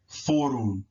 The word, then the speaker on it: forun: UR is always pronounced or, as in the letters OR, or, right? Forun, forun, Forun.